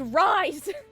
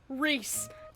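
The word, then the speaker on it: Rhys: Gosh dang it, Keki, his name is Rise! Okay, side tangent. But Jessica, if you are for some reason watching this by some miracle, why is it pronounced Rise when it is so clearly spelt Reese?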